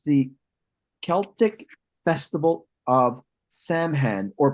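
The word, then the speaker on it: Samhain: right there and it's the Celtic Festival of saman or pronounced seen and it's celebrated on October 31st the Celtics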